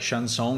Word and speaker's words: chanson: Like sweet chanson, like chanson, you really pronounce it in French.